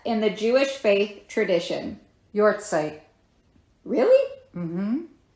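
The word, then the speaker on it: yahrzeit: the Jewish faith tradition y site really mhm guys that is spelled y a h r z e i t and it is said your sight I'm sorry I'm not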